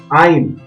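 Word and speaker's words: عين: Lanjut, ain, ain, a. Nah, ini berbeda dengan alif, ini a, alif, alif, a. Kalau ini ain, a, a, a.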